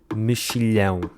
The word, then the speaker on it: mexilhão: Para começar, temos o X, que em português pode fazer 4 sons diferentes dependendo da sua posição na palavra. Sim, 4. O X pode fazer os sons X, X, S e Z. Neste caso, o X faz o som X, mexilhão, mas claro que